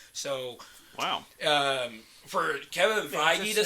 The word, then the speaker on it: Feige: not hold back so wow um for kevin feige to say that it's gonna be is that how you pronounce his name yeah really yeah what'd you